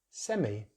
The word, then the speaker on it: semi: They use the I diphthong, so it's semi, semi, but in British English it's semi, semi.